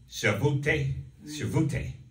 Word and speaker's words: Shavuot: feasts of the lord is pronounced shavute is the only one that doesn't have a specific date associated with it such as passover on nissan the 14.